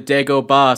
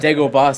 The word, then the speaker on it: Dagobah: he clearly Ben says you will go to the Dagobah system, and he goes Dagobah system. It's like, no, I didn't say it like that. I said Dagobah system. Why are you taking liberties with the pronunciation already? 5 seconds after I said it.